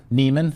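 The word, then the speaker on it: Niemann: Neman, thank you to Hall of Fame tight end Antonio Gates for that pronunciation because I went back and watched him getting drafted in 2021.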